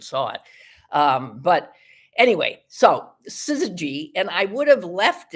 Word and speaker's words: syzygy: All words that have that sort of no vowel. Well, like synergy or something. I mean, that's the way they're accented. So I would just go that way.